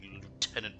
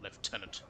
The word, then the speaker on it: lieutenant: have to be using the disgusting Lieutenant pronunciation not leftenant like the proper English wa said bastardize English